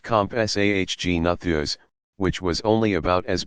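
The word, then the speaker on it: Compsognathus: been the Agnetha s-- pronounced comp SAH G nathers which was only about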